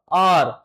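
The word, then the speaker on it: hour: देखो अगर एच के बाद ओ यू आता है या ओ आता है तो एच साइलेंट हो जाता है और जब इसको साइलेंट करेंगे देखो ध्यान दो तो क्या पढ़ा जाएगा आर तो आवर को आर पढ़ते हैं और उसका पहला लेटर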